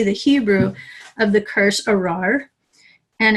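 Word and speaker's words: ארר: There's a doubled resh, arar, which makes it really hard to pronounce in Hebrew when you consider how far down in their throats they say the R.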